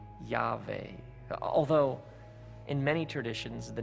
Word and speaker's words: Yahweh: Now, some pronounce the name Yahweh or Yahweh, although in many traditions, the name isn't even pronounced because it's considered so sacred, so mysterious, so holy.